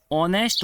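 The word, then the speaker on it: honest: first जोड़ी was blank ऑनेस्ट बॉय इस word को हम ऑनेस्ट पढ़ते हैं ना कि नेस्ट हमें इसमें आर्टिकल यूज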